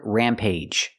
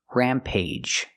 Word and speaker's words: rampage: the last word Rampage sometimes we have two syllable words with ag at the end and it makes a long a sound like with one syllable words age page and cage the same sound here Rampage there are only